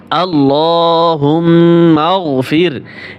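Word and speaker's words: اللهم اغفر: করে শিক্ষা দেবো ইনশাল্লাহ হামজা লাম জবর আল লাম খারা জবর ল হা মিম পেশ হুম আল্লাহুম মিম গাইন জবর মা আল্লাহুম্মা ফাজর ফির আল্লাহুম্মা আল্লাহুম্মাফির এখানে অনেকেই ভুল করে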